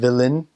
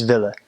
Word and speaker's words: willen: And it's a lot of their words end in en, their verbs, and they drop the n when they say it. They just don't pronounce it. So instead of willen, it's ville.